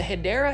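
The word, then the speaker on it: Hedera: like this helix or what you call the hideera helix, that's the correct way to say it.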